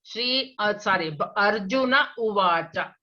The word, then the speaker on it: Arjuna Uvacha: Why do you break in Arjuna Uvacha? It's not breaking. You cannot join that. There is some prakriya happening. Some changes happened already. So you must pronounce as two words. Arjuna Uvacha.